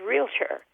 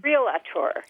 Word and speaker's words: realtor: of people mispronounce and that is realtor everybody says realator yeah you want a